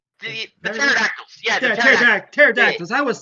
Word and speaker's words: pterodactyls: Yeah, the Yeah, pterodactyls. pterodactyls. I was saying it Yeah. starts with a P, but the P is silent.